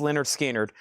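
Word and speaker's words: Lynyrd Skynyrd: Pronounced Leonard Skinnard 2LP 45 RPM.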